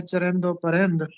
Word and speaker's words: چرند و پرند: بے شرم بن جانا، درست تلفظ ہے چرند و پرند۔ فروتنی کا مطلب ہوتا